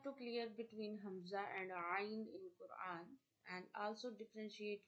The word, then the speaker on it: ع: The next letter is Ain. Ain. Ain. Ain is pronounced from the middle of your throat.